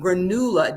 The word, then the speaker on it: granula: they they call them granula G I don't know if I'm pronoun it's not granola but they they spell it g-r-a-n-u-l-a and they were grains